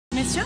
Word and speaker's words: messieurs: By the way, note the subtle difference in pronunciation between monsieur, sir, and messieurs, sirs, gentlemen. Monsieur, messieurs. Ouais, bien sûr, je dois dire quelque chose.